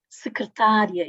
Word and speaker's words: secretária: Secretária e secretaria, aqui, distingue significados, não é?